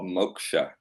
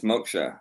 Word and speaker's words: moksha: in in ancient Sanskrit called Moka M more or less you could spell it m o k ha but of course it's phonetic because it's not written in our language but um ancient Sanskrit